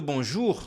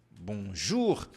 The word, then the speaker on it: bonjour: o e o u toda vez que você vir essas duas vogais juntas você vai pronunciar u ou seja o nosso u mesmo lembra do Bonjour olha aqui ó Bonjour por isso que nós